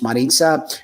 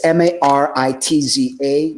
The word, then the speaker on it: Maritza: It's pronounced Maritza. It's Maritza, Maritza.